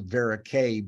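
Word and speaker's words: Verocay: another that's that's a varicay body like this so you see varic K it's nice that it rhymes with Antoni a so it's easy to remember and then in the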